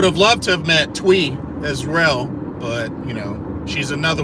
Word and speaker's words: Thuy: For the I thought her name was Thuy, but after attending Kimberly's Q&A panel, apparently the correct way to say it is Twee.